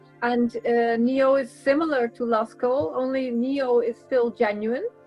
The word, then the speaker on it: Lascaux: I'm not pronouncing that right. L-A-S. Lascaux.